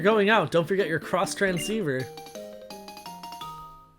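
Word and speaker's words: Xtransceiver: us the x transceiver i used to call it the x transceiver even though she literally says what it's supposed to be pronounced as in the sentence right before giving it you're going to thank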